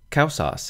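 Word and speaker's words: causas: Kausas has the diphthong AU, pronounced AU, so even though there are three vowels, there are only two syllables, kausas.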